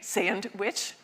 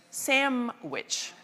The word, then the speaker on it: sandwich: say sandwich witch um most of us lose the d and then something happens for many of us where we don't say sandwich we say sandwich that n turns into an m and there's a reason for that and if you study phenology you know that it's the nature of the w that changes the n and makes it an m.